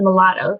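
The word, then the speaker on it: Molotow: So that's what's nice about the mulattoes. They're a very opaque finish, and they're a good brand too. I've heard great things about these. Mulatto. It's spelled M-O-L-O-T-O-W.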